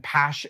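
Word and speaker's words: Paasche: a basic single action pass airbrush that's how you pronounce it p-a-a-s-h-e um because that's what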